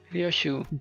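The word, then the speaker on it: Ryōshū: 류슈?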